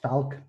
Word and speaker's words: Valk: Hi, I'm Ali Valk on Twitter. It's actually pronounced Falk, but nobody in America gets German pronunciations of V.